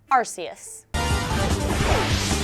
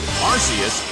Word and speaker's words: Arceus: you may notice that the pronunciation Alex and I use is the pronunciation from Pokémon Battle Revolution arus arus is sent out yeah